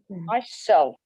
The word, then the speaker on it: myself: basketball okay excellent and reflexive pronouns the second syllable away is stressed myself myself themselves them them themselves ourselves